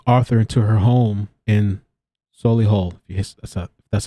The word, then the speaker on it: Solihull: And the couple moved with Arthur into her home in Solihull, that's how you say it, in the West Midlands when the government declared a lockdown in March 2020.